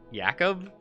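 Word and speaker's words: Jakob: thing it said like yakob like the J was pronounced as a y and I'm like oh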